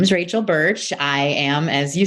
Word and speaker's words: Burch: Rachel, can you say your name, because I'm French and I'm afraid I won't pronounce it well. Is it Burch? Burch, that's right.